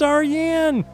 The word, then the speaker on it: Aryan: It's not Ryan, it's Aryan!